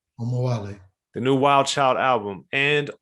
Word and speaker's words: Omowale: And at the risk of mispronouncing it, I'd like for you to pronounce it so I don't butcher it too bad here. It's Omowale. Omawale. Omowale.